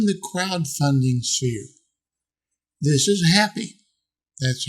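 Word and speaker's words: Hapbee: science fiction in the crowdfunding sphere this is happy that's how they say it's supposed to be pronounced yeah supposedly you can choose how you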